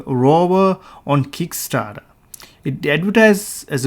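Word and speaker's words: RVR: On February 19, 2019, Sphero announced a programmable tank tracker kit called Sphero PVR, pronounced rover, on Kickstarter.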